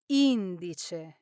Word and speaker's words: indice: well, in this case, the correct pronunciation is indice. Now, this is a classic case where stressing the wrong syllable changes the word completely. When the stress is on the first syllable, Indice, it means index finger. But when the stress is on the second syllable, indice, it means the third person singular of the verb indire, meaning he or she announces.